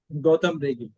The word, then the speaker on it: Gautam: Gotham Ree. Gotham, am I pronouncing correctly? Yeah. Goautam.